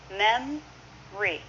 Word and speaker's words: memory: Memory is often mem-ry.